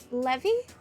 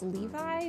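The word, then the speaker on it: Éliphas Lévi: for instance there's elus Levy usually that's Levi but I don't think the French pronunciation which I'm pretty sure this is a French name would would pronounce it Levi a man who attempted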